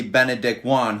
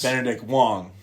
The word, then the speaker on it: Benedict Wong: I have to say um my favorite character of the film of weapons had to be Benedict Juan who played Marcus. Benedict Wong.